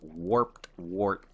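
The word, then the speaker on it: warped wart: warped wort that's you you feel slow saying it like you have to say it slow to say it right it's warped wort that's that's weird you're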